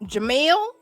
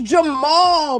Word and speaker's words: Jamal: It's Jamal, bruh. It's not even hard. It's not hard.